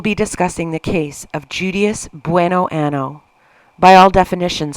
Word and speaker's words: Judias: attain what she coveted I have heard some people pronounce her name as judias or judias but I'm going to say judias as it is the closest thing to Judas which is a pretty